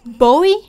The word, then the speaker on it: Bowie: it's actually is it Bowie or Bowie it's Bowie oh Bowie because in in English you could